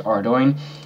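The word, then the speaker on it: Ardougne: want to have the ability to teleport to ardoin and that's actually how it's pronounced you can also load stone there but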